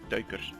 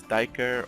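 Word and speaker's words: duiker: red forest doker now i've heard a lot of english speaking people struggle with the pronunciation it is turkish not dyker or duker or however they would pronounce it it is because uh red force daggers have a dutch name and you'll notice a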